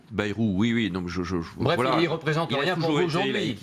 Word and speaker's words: Bayrou: En plus, vous prononcez mal son nom, Bayrou. Bayrou, oui.